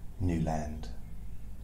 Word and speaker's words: Newland: my name is Newland the reason I pronounce my surname like that is cuz some people say don't you mean newand they actually correct me I found up